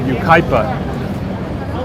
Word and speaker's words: Yucaipa: this fund called, he has a fund called UKIPA, which is spelled, it's just a name, I don't know why he picked it, but it's YUCAIPA.